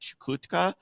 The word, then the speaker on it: Chukotka: in uh Northeastern Russia like uh was it chutka um is that how you pronounce that is that is that right you probably mean chakota that's chotka yeah the very remote Russian region exactly yeah